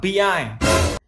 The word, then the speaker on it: PI: Thì dùng bảng PI. PI á? Là tiếng Tây hay tiếng Tàu đấy? Là tiếng Anh. PI tức là cách đọc tiếng Anh của chữ P và chữ I này này.